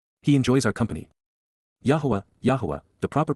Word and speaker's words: Yahowah: Yahweh Yahwa the proper pronunciation of the name of Eloha God as